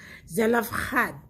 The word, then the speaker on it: Zelophehad: the Hebrew name and the way you pronounce it in Hebrew zad so in English you might read it as